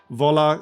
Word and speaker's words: Wola: So, here we got Żoliborz, Praga, Wola, Śródmieście, Ochota, and Mokotów. That's how you pronounce all these names, by the way.